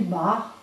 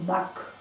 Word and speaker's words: Bach: Le docteur Bach, c'est un Bach, parce que on dit Bach, parce que c'est la prononciation allemande. Mais comme lui est anglais, alors c'est docteur Bach.